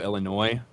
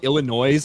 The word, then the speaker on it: Illinois: I refuse to acknowledge a silent S. Looking at you, Illinois. People that call it Illinois, I want to strangle.